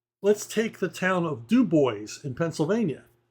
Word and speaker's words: DuBois: take the town of duboys in Pennsylvania it's name wasn't originally duboys it was Dubois because it was a French Trading Post so um things